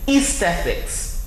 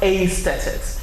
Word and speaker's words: aesthetics: Of course, there's a second pronunciation to that word aesthetics. So I must mention here that there are 2 pronunciations to that word. The second is aesthetics, where the A and the E gives you the sound E, but it is never aesthetics. So do not pronounce the A and the E as A. It's aesthetics or aesthetics. All right?